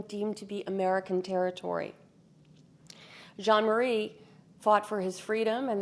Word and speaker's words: Jean-Marie: Jean-Marie, sometimes called Jean Mary, depending on whether you were pronouncing it in the French that he grew up in or in English, which was customary in St. Louis.